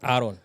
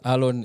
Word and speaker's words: Alon: Alon is one of those people whose name doesn't get pronounced in the right way. Past Kamakis. Going upwards. Inaletanga shida. People are like Aaron. But yes, Alon it is.